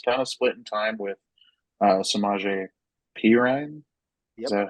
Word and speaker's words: Samaje Perine: I know he's being worked into this offense, and he's kind of splitting time with Samaje Perine.